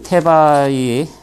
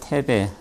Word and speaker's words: 테바이: 그 나눠드린 자료는 그냥 참고하시라고 나눠드린 거고 앞부분에는 그 테바이 이게 뭐 영어로는 테베 근데 이제 히라보 발음에 가까운 건 테바이라고 그럽니다.